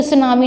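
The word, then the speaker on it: tsunami: यहाँ पर T silent रहेगा, तो सुनामी नहीं बोलेंगे, हम सुनामी वेव्स बोलेंगे।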